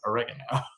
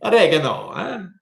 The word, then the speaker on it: oregano: You should say it as the Italians say it, which is oregano. Okay. Oregano.